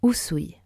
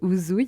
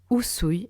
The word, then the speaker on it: Usui: Vous dites bien sushi et non zushi, n'est-ce pas? C'est la même chose. Usui et non uzui.